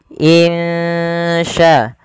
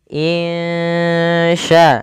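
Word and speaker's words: إِن شَاءَ: dengan bacaan ikhfa Hakiki cara membacanya samarkan suara nunnya kepada huruf Sya insya insya insya allahah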